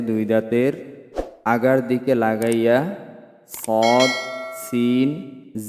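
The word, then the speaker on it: ص: দুই দাঁত আছে দুই দাঁতের আগার দিকে লাগাইয়া সদ সিন যা আবার বলি জিহ্বার আগা সামনের নিচের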